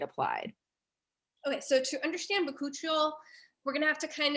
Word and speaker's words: bakuchiol: Okay, bakuchiol, is that how you say it?